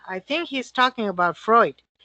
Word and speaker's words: Freud: I think he's talking about Freud. Right, Alicia, Freud o Floyd, gracias. Alicia wants to know, well, pues yo creo que por ser portugués, I think ahí la L, pero yo creo es Freud.